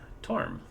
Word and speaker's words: Torm: Torm. Pronounced Torm.